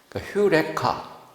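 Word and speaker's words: εὕρηκα: 그래서 이렇게 하면은 거꾸로 이렇게 나 발음이 이렇게 하면 휴리스코, 휴레카. 액센트가 해가 있고 감탄사예요. 휴레카, I found.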